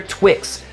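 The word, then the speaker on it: TWX: It's Twisted X's Leather Twix, spelled leather T-W-X, but pronounced Leather Twix.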